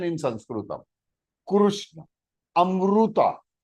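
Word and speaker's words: अमृत: Amruta. It is not Amrita. That is Hindi version. Because they pronounce this ru as ri.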